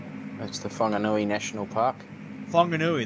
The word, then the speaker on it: Whanganui: Whanganui, that's how you pronounce it.